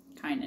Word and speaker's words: Kynan: Kynan. Kynan. You make the I long.